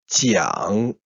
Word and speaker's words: 蒋: The correct pronunciation in Chinese is jiang, 戒, 时, or Chiang Kai Shek. 蒋介石. The Hanyu pinyin is 蒋 third tone, 介 fourth tone, and 时 second tone.